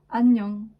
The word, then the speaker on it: 안녕: Et pour le NG, nous venons de le voir, hein, du coup, donc sarang ou annyeong. Annyeong, complètement muette devant la voyelle.